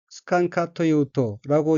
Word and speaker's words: 好かんかというと: 다음 어기는 역시 조울 호자가 들어있고 일본어로는 스칸카토이우토라고 읽으며 스칸카토이우토는 좋아하지 않다는 뜻의